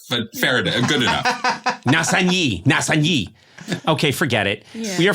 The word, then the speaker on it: Nassigny: You are talking to us from a region of France, a town called, is it Nassigny?